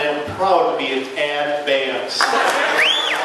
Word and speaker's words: Advance: advance in north carolina advance is a two-syllable word it's advanced all right ladies and